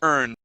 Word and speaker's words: earned: And the ed ending on earn. Okay, we say earned. Earned. Good. One more time. Earned. Earned. All right. Here we want to pronounce a D sound instead of a T.